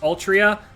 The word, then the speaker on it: Altria: that others don't do it's pronounced all it's pronounced altria look this is artoria there's